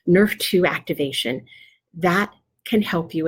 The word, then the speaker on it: NRF2: and it's called nrf2 that's pronounced like the football like nerf nerf to activation that can help